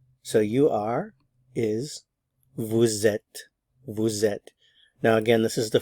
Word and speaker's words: vous êtes: Li so V vet normally we don't pronounce the S normally we just say Vu but because the vow follows we do pronounce the S so you have Vette Vette Vette notice I'm not